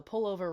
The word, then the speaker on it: pullover: And he's British, so pullover rhymes with sofa. Doesn't when I say it.